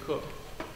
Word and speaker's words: Coke: And then in letter F in the 1600s, there was a man named Sir Edward Cook, pronounced Cook, spelt Coke.